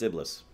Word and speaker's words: Iblis: or not did not bail it simplest it's Iblis garm garm bel Iblis that's him so Bela